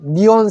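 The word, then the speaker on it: neon: 자, 그래서 네온 사인은 이 발음으로 니라고 하십시오. 니온 사인이 바로 네온 사인입니다.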